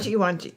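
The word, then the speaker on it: Wangi: North of, now how to pronounce that, Jody? Wanji.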